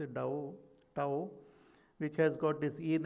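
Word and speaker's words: Tao: talk about this da they call it the pronounce it da tow which has got this in and yang and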